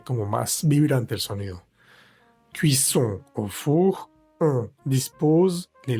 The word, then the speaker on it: cuisson: La cuisson, cuisson, cuisson. Vemos nuevamente la vocal nasal ON, que se pronuncia igual que la OM. No vamos a decir la O separada de la N, no es cuisson, sino cuisson.